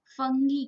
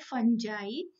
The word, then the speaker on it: fungi: आज हम पढ़ने जा रहे हैं किंगडम फंगी के बारे में या फंजाई। बहुत से लोग इसको फंजाई प्रोनाउंस करते हैं और बहुत से फंगी, बट एक्चुअली जो करेक्ट प्रोनाउंसिएशन होता है वो होता है फंजाई।